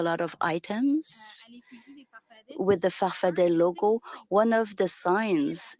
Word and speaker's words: farfadet: Your movement, you call it farfada with two A's at the end, but you pronounce it farfadet. Answer, depends on who pronounces it. I've always said I'm a farfadet.